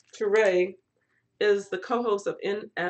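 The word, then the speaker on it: Touré: how to say it looks like Toure like a French name but Turay is the co-host of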